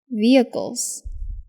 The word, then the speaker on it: vehicles: application pets pets Vehicles the H is silent Vehicles agent agent rent rent